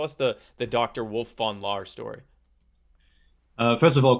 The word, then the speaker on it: von Laer: genesis story tell us the the dr wolf von lar story uh first of all kudos for pronouncing my name correctly and also it's it's